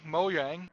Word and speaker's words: Mojang: heistan I'm sorry but Mojang Mojang as it's pronounced in Swedish show his best I